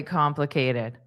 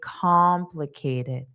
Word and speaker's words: complicated: The visa process seems really complicated. Complicated. Cated. K did. Cated. Cated. Complicated. Complicated.